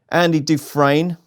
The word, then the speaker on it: Andy Dufresne: Anything Will Do, Andy Dufresne, that's how you say it, Maddie, Meticulous, Shanroe, Captain Guinness, and the Little Yank.